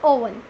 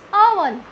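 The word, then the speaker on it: oven: इट्स नॉट ओवन, इट्स अवन. अवन, अवन. Correct pronunciation is अवन.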